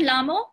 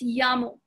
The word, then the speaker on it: llamo: It's not lamo, it's llamo.